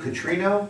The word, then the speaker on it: Catrino: In this particular case, we've got, I'm going to say it properly, Dave Catrino?